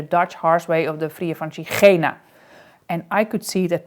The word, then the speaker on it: Via Francigena: yes, I just started the Via Francigena.